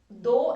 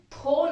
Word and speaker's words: though: THOUGH, इसका pronunciation थो नहीं है. बहुत से लोग TH देखकर इसका रॉन्ग प्रोनाउंसिएशन करते हैं थो. कुछ कंफ्यूज होते हैं थ्रू से. थ्रू एक प्रेपोजिशन है जिसमें आर भी आता है TH के बाद. So please don't be confused. इसका प्रोनाउंसिएशन है दो.